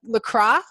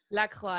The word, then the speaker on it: La Croix: i've got my look lacrosse look look the cry look is that how you say it oh god you say it fancy la croix it's like croissant but you don't pronounce the x so uh i've only